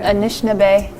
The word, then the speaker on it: Anishinaabe: Picture glass, I do believe you'll see etchings in the stone of our Anishinaabe. Had it created different pictures, and of course our Anishinaabe right here. And then Anishinaabe, did I pronounce that correctly?